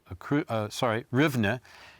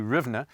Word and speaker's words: Rivne: Rivne. I use the Polish pronunciation.